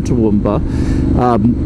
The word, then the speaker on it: Toowoomba: I say it like that because that's what the locals say, and I'm not from Toowoomba, so I'm just trying to blend in.